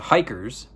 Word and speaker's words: Hykkers: It's the Hikers, and it's spelled Hykkers.